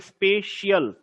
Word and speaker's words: spatial: इसका उच्चारण, इसका प्रोनाउंसिएशन बहुत ध्यान से करना। ये स्पेशियल है, इसको बोलते हैं स्पेशियल, ठीक है।